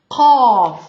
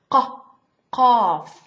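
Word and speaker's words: قاف: Qaf. Very tough. Comes from the throat. Qaf. I will teach a trick. We have, after the qaf, we have kaf.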